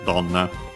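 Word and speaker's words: どんな: So yeah, literally, dono, which, yo, here kind, na adjective, dono, yona, and then contracted into donna. The accent is on the do.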